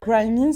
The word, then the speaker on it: Grimy: Grimy, c'est ça? C'est ça. Ouais. Non, mais souvent quand je parlais à des gars de la marque, ils appellent ça Ouais. grimé, genre. Mais Ah ouais?